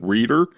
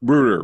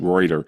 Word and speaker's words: Reuter: Is it Doug Reer? Is is that the pronunciation? Roo like rut. Rutder roo okay. Okay okay okay I think I said roder uh Doug that that's